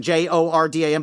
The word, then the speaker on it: Jordan: Um Hamilton Jordan. It's spelled Jordan. J O R D A N. But it's pronounced Jordan as I learned during my audio book.